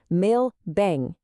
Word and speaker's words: meu bem: And the pronunciation here is really fascinating. It breaks down as meu bem.